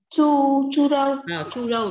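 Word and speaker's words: 猪肉: Phải đọc là chu râu nhá.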